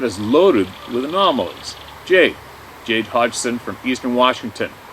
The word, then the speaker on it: Hodgson: Jade Hodgson from Eastern Washington. The G in the name is silent if you use.